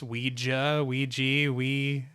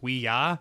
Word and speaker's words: Ouija: One thing I always feel weird whenever I pronounce Ouija, I read that it was named after yes in French and yes in German, so it should be pronounced Ouija.